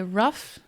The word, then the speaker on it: rough: Quando fala roof, de tela, faz um pouquinho do da beijo. Roof. É rough, é mais relaxada, mais alongada a boca. Rough, roof.